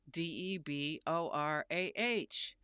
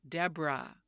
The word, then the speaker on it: Debra: name, it was spelled d e b o r a h. But, did you hear me say my name is Deborah? No, I said Debra.